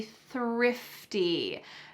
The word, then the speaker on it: thrifty: I try to be thrifty. Notice that when I pronounce this, my tongue is between my teeth and there's a stream of air coming out.